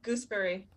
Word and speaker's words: gooseberry: it's 7 playing Gooseberry.